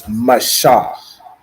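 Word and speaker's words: מֹשֶׁה: It's Mashah, right? So it's M-A and then S-H-A-H. Shah. Mashah. That makes sense?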